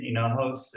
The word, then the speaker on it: Hignojos: Hignojos. my last name is spelled Hignojos.